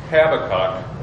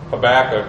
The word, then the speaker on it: Habakkuk: take a look at habac or habac is another pronunciation they're both universally accepted uh so pronounce it